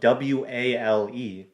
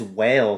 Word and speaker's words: Wale: them well this guy it's spelled w-a-l-e but i don't think his name is whale though i would say his name is not whale the sage so i'm gonna